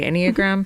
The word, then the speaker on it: Enneagram: And for those who are maybe unfamiliar, and I hope I am pronouncing it correctly, Enneagram?